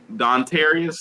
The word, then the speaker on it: Dontarius: Number 22, yo boy, Dontarius, that's how you say his name, Robinson.